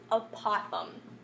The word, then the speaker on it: apothem: we pronounce that is apothem which sounds kind of like we're saying possum incorrectly but that is how